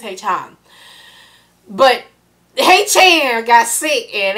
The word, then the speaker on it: Haechan: my support of them, saying Haechan with my old country sound itself. His name is Haechan.